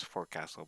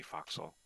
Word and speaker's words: forecastle: So foxhole spelled forecastle and sometimes pronounced as forecastle, but it's really foxhole.